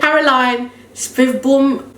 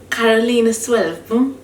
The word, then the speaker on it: Caroline Svedbom: Carolina Svedbom. Svedbom. Listen, this is Swedish, but I don't. Don't you guys are neighbors? Yeah, but they have a different, like, they say it in a different Okay,